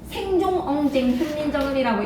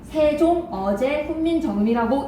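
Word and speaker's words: 세종어제훈민정음: 생종엉 훈민정음이라고 읽지 않아. 세종 어제 훈민정음이라고 읽어.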